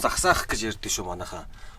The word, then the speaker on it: Zagsaakh: This process called “Zagsaakh”. Not ‘zogsooh’. I heard a wrong pronunciation many times from the children.